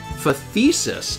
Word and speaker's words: phthisis: It's pronounced phthisis.